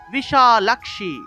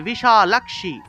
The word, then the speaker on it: বিশালাক্ষী: দেখুন তালব স্বয়ের নিচে বফলা আছে তাহলে শুয় উচ্চারণটা আসবে তাহলে বিশ্বরূপে বিশালক্ষি লাক্সি খিয় আছে খিয় এর উচ্চারণটা হলো ক্ষ অর্থাৎ যে জায়গাতে আমরা খিয় পাবো সেই জায়গাতেই ক যোগ মূর্ধন্যস এভাবে উচ্চারণ করতে হবে তাহলে বিশালাক্ষী বিশালাক্ষি এইভাবে বিশালাক্ষী বিদ্যাম আবার এখানে দেখুন জফলা